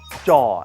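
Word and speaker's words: จะ: It's not ch. It's closer to a j or a j sound.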